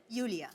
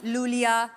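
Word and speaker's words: Yulia: यूलिया। एंड the spellings are आई यू एल आई ए। सो आई आई गॉड you know I mean why I everyone is calling me लूलिया लोलिया बट लोलिया लोलिया I like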